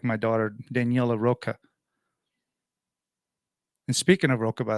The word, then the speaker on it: Rocha: But if you're from where I grew up, it's actually Rocha, like the way you say it in Spanish. Spanish people, every time they introduce me, they say Rocha. Rocha. I was like, yes, that's how you say it. But I say Rocha because that's pretty much, it rhymes with mocha.